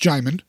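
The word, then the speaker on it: Djimon: I do know that his name starts with a D by the way but it's pronounced jaymund okay um but he's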